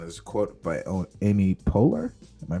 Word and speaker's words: Poehler: And there's a quote by Amy Poehler. Am I pronouncing that Yeah, right?